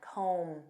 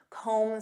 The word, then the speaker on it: comb: to comb through and notice that b is silent comb comb through this means to